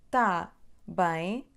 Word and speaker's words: tá bem: Mas aqui na palavra tá temos o som A aberto, não é tan. Então, tá bem, tá bem, tá bem, bem, tá bem.